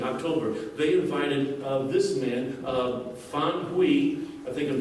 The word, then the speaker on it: Fan Hui: And they invited, in 2015, October, they invited this man, Fan Hui. I think I'm pronouncing his name right. Actually, I don't know if I'm pronouncing his name right. What? Fan Hui.